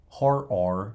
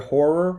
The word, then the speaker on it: horror: A lot of people, when they say the word horror, they miss that second syllable. It's really difficult. It's like, or they don't hit that second syllable enough, and it sounds like you're saying something else.